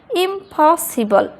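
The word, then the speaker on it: impossible: হচ্ছে stressed syllable, আর stressed সিলেবলের শুরুতে পিটা আছে, সেহেতু পি এর এখানে উচ্চারণ কিন্তু প না হয়ে কি হবে, ফ, ইম্পসিবল।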